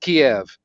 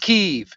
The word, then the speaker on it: Kyiv: heard the name of that city in Ukraine pronounced Kiev. Now they're all pronouncing it Kyiv.